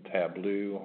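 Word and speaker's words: Tableau: on base uh reporting tblo I believe is how you say that so anyways um you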